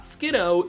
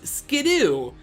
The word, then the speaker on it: Skiddo: of its pre evolution it's not skiddo its skiddoo and when I heard